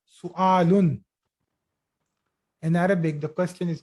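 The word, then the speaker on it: سؤال: So it is not pronounced as suval wa. No, it is not. This is not wow. This is Hamza. So it should be read as su'alun.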